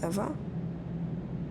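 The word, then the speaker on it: Ewa: don't mind did you say your name was eva yes that's right so you have the same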